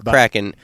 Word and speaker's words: kraken: a kraken one night Kraken or Kraken actually are there any Norwegians out there listening maybe you can say yeah anyway it's an old uh mythical sea creature you'll hear about it in the story so it's either uh Kraken or cracking a couple different ways to happen after he